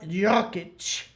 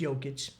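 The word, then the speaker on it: Jokić: have a current player Mr Nicola joic actually pronounced joic 6 foot1 284 PBS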